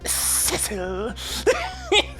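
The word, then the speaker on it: Sissel: see so that must be my name it's pronounced civil it smelled like though to hear it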